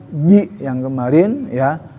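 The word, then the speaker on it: ج: Itu di pengucapan ji yang kemarin ya. Ji bukan ci tapi ji fi ji.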